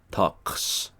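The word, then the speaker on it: الطقس: the weather now in when it's written out in full arabic by the way it's spelled al talks um literally the talks okay uh the weather but uh the l sound blends into the t here there's a few letters like t and d and a few others where that where the l goes away okay we can talk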